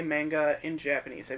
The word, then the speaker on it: manga: Manga? Uh a lot of people in America say manga in Japanese. They pronounce it manga.